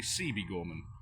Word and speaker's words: Siebe Gorman: actually pronouncing things correctly, you would know it is actually Siebe Gorman.